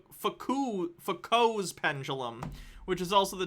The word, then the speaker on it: Foucault: so checkmate globers d with goblin says it's pronounced foucault's pendulum which is also the title of a